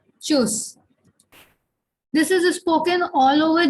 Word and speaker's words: Tschüss: Bye is called Tschüss. Okay. Here U is the third umlaut and the T is silent. Okay. So it is Tschüss. Tschüss.